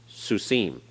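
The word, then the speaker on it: סוסים: Follows the pattern of Sus, Susim.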